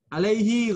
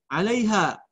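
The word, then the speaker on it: عليها: Ayat 40 tadi dibacanya alaihi ghabara. Harusnya alaiha. Wa wujuhu yawma idzin 'alaiha ghabara. Tadi kamu bacanya alaihi ghabara. Beda ya alaiha dengan alaihi beda.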